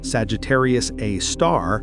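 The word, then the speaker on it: Sagittarius A*: The super massive black hole at the center of our Milky Way, Sagittarius A star, yes, that's pronounced a star because astronomers are fancy, weighs about 4 million suns.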